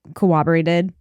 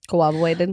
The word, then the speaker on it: corroborated: the government and they corroborated. Corroborated. Why do I always say that wrong? I don't know. Is it corroborated or corroborated? Corroborate? Corroborated. Yeah, there's no W.